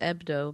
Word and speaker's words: Hebdo: Which I assume is pronounced Ebdo because Yeah, it's the French.